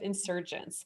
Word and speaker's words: nsrgnts: So Votan is one of the founding members of Insurgents, and that's spelled nsrgnts.